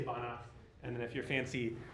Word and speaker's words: Banach: Stefan Banak.